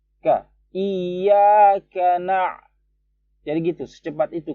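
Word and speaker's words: إِيَّاكَ: Jadi bacanya 2 harokat aja. Iyyaka na'budu wa iyyaka nasta'in. Kesalahan orang biasanya di sini. Ka ini dipanjangin biasanya. Iyyaka nggak boleh. Ka langsung na. Ka itu hanya 1 harokat.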